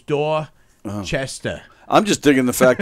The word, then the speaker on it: Dorchester: Dorchester Dorchester Dora Chester it's like Dorchester there's no R so it's door Chester I'm just digging the